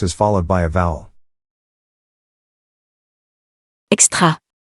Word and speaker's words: extra: extra, As the X letter is followed by a consonant, and the consonant is not an H, then the second option is the correct one.